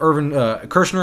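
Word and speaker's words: Irvin Kershner: Wars and I love urban Kershner I believe is how you say his name he's the director for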